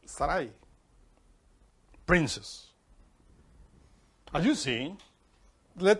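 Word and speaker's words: שרי: the letter yod three letters sharai but it's pronounced sarai princess as you see let the shin there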